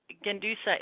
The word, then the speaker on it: Gendusa: The Gendusa is silent.